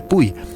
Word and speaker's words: Puy: aproximadamente en la ciudad de Puy, o de Pai, como ustedes quieran pronunciarlo.